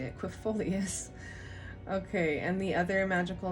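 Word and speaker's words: aquifolius: us quit fulfoleus that's how you say it quefolius okay and the other magical names are batswing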